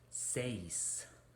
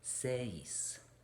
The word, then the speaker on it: seis: spanish is says now we have an e and an i combination here so it starts out as an egg right and then the i says e e as in del e del e right so we have this e followed by the e seis so you blend them together says seven now this